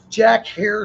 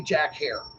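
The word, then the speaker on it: Jack Herer: If you go in the dispensary, you guys, and you want to order Jack Hare strain, for God's sake, say Jack Hare.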